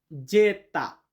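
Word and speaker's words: zeta: এবং ইংরেজিতে আমরা যেটাকে জেড বলি এটাকে ইতালিতে বলা হয় যেতা। যেতা মানে জেড।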